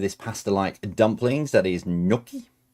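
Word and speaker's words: gnocchi: That is noki. G is silent noki because otherwise you end up with ginoki.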